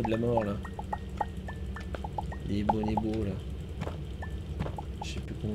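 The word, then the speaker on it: Boneboo: Les bonibos. C'est comme ça que ça se prononce en vrai.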